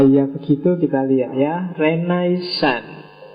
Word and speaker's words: Renaissance: begitu kita lihat ya renaisan renaisan itu istilah dalam bahasa Prancis bacanya agak seng sengau belakang yo kalau orang Indonesia sih enggak suka istilah sengau itu biasanya renaisan yo renaisan kalau orang Prancis sendiri belakangnya mesti agak hilang Ren song jadi kalau kita nirunya